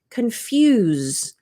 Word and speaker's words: confuse: interesting when you compare confuse so in this form the S sounds like a z confuse so if you think